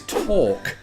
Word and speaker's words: talk: Is talk. Talk. No, you don't talk, do you? You don't put an L in there.